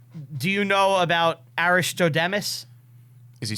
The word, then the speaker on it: Aristodemus: Do you know about Aristodemus? Is he saying that I right? don't think he's pronouncing it. He's not saying that right. Aristodemus.